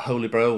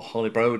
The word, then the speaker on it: Holybro: while we're talking about holy bro or holly bro depending on how you want to pronounce it it's worthwhile talking about